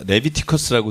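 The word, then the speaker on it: Leviticus: 이 레위기는 그 라틴어로 하면 발음이 레비티커스라고 되어 있습니다. 레비티커스.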